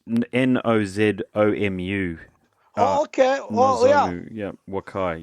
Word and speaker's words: Nozomu: I'll spell it for you. It's Nozomu.